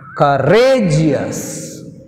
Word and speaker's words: courageous: So we take on the stress, second syllable. Courageous, courageous.